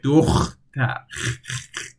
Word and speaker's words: دختر: دختر. The hard syllable you can't really pronounce like that. So دختر. It's like you want to do the thing, do the deed. You want to do that.